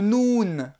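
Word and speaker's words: ن: Le noun, le N, comme le N français, il ressemble au B que l'on avait vu au début de cette vidéo, le B. Simplement le B, le point il était en bas, le N, le point il va être en haut. Na, nou, ni, n. Le Ha, également une lettre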